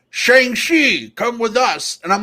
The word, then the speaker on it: Shang-Chi: somewhere right in between it's like shang shi like i think it's more of an sh but like you kind of swallow the h a little bit to get the pronunciation right so i think brad's